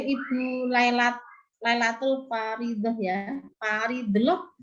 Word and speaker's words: Faridah: Faridah, bacanya Faridah. Parido.